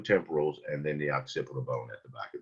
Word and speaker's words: occipital: Is pronounced occipital.